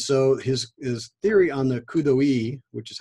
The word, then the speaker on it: coup d'oeil: And so his theory on the coup d'oeil, which is how you pronounce that, means in French, it means at a glance.